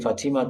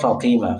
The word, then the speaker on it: فاطمة: So the way you mentioned, the way you pronounce it, Fatima, sounds like usually the way the Hausa people will pronounce it. Okay, anyway, so it's not Fatima, it's Fatima. Okay, Fatima.